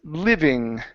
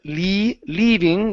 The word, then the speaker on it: living: Next up is the word living. Right here, instead of leaving with an E sound, okay, it's living.